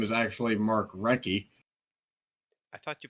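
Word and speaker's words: Recchi: Uh so first hockey forgotten star we have is Mark Rechie. Uh seventime allstar ranging from 91 to 2000. Yes. Apparent apparently so forgotten that his name is actually Mark Reky. I thought you pronounced the H.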